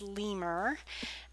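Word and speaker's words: lmer: you can use with this is pronounced lemur it's called LM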